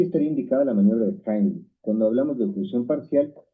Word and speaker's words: Heimlich: Muy bien, vamos a ver en este video la maniobra de Heimlich, que por cierto, esa es la pronunciación correcta porque está en alemán, la mayoría dice Heimlich, pero bueno, se entiende de qué se trata.